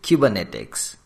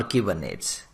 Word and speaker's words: Kubernetes: In this lecture, I will discuss a very important and demanding topic that is cubernetics or cubernates. It is up to you how you pronounce it.